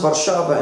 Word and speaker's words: Warszawa: Now, Warsaw, pronounced Warszawa in Polish, is Poland's largest city,